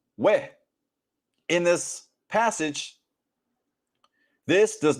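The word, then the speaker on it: וְ: And the conjunction wow, which is pronounced we.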